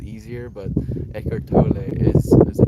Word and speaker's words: Eckhart Tolle: Eckhart Tolle apparently is the right way to say it. Like I would like to say it Eckhart Tolle, because it just feels like it's easier. It like flows off the tongue a little bit easier.